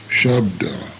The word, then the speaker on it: Shabda: The sha sound is pronounced as in she or ship. Shabda, sound.